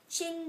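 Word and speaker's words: Qin: the CH was the chin D the Chin Dynasty kind of sounds like chin and it is spelled q i n not c h i n it's pronounced c h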